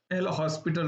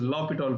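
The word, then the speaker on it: L'Hôpital: last part which is L hospital rule which is not the right way to say it. It is lital rule or lital rule something. Oh French over there.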